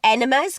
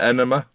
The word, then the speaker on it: enema: Coffee enemas. Coffee colonics. Enma.